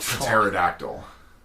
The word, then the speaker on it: pterodactyl: The P is silent. Then why would you... Like pterodactyl. Pterodactyl.